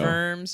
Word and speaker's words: Worms: I I now know vers Germany it's spelled WR Ms but it's vers w r Ms W o r Ms like worms but they pronounce it vers vers vers vers ger